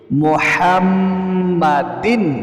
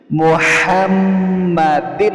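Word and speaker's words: مُحَمَّدٍ: দেখতে থাকুন আর মুখে উচ্চারণ করে সহিহ শুদ্ধ উচ্চারণটা শিখুন আল্লাহুম্মা সাল্লি আলা খাইরিল খাল মুহাম্মাদিন বলতে হবে অনেকেই কিন্তু আপনারা পাঠ করেন না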